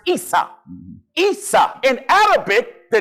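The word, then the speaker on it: عيسى: In Arabic, Esau is pronounced Isa.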